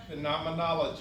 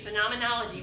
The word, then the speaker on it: phenomenology: We looked up how to pronounce it. Go ahead, can you say it for me, Don? Phenomenology. Thank you, phenomenology.